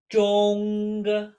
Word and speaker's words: 中: we have the character for middle or center, pronounced 中. 中. 中. One more time. 中.